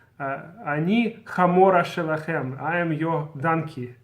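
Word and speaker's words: המורה: new teacher says, Ani hamora shelachem, I am your donkey. She wants to say hamora, I'm your teacher, but she pronounces hey like het, so it sounded like she's saying I'm your donkey.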